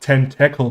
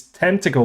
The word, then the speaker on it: tentacle: pronunciation right this time it's not 10 tackle boy as some of my fellow germans would also pronounce it no it's tentacle boy and now after five